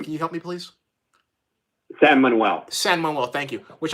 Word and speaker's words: San Manuel: You have an Indian gaming organization out of California, San Miguel. Samuel. I don't want to mispronounce the name. Can you help me, please? San Manuel.